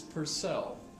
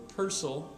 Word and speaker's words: Purcell: the particular performance but this is Purcell or Percel I've heard it pronounced both ways I just thought throw